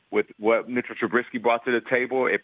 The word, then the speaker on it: Trubisky: I think it's pronounced Trubisky, not yeah, but, Nate.